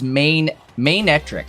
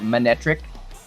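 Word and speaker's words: Manectric: he pronounced it as mainetric and I actually I like that I used to just call it manetric like monetric but mainetric makes way more sense like a main like a lion's mane cuz like it looks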